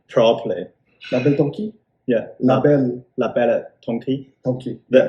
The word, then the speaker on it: La Belle Tonki: La Belle Tonki. Yeah, La Belle Tonki. Tonki. So there's no S at the end, so it's a French silent.